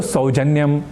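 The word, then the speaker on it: सौजन्यम्: अर्थात यहाँ भी औ को ओ या ओ न कहकर औ ऐसे ही कहना है, क्योंकि वेदों से लेकर लौकिक संस्कृत में ऐ और औ इन दो अक्षरों के उच्चारण की यही रीति रही है, जो निस्संदेह अधिक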